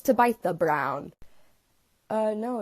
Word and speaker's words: Tabitha: I know you're thinking isn't it Tabatha no I don't know why it's pronounced like that either it should be Tabitha but it's to bite the brown uh no it's